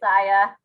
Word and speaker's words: Aya: Is that how you pronounce her name, dear? It's Aya.